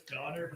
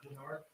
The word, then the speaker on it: Donard: all right thank you it's it's donard not dard donard I need to apologize